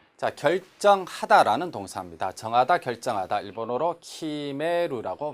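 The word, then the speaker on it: 決める: 일본어로 키메루라고 발음합니다.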